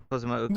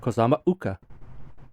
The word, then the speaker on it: Kozama'uka: And when they transcribe ancient Egyptian, sometimes they use the apostrophe to mean a glottal stop. So that would be how I would pronounce it, Kozama'uka.